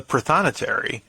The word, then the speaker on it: prothonotary: know as as the prothonotary did i mess it up no you said it right very proud okay as a protonatory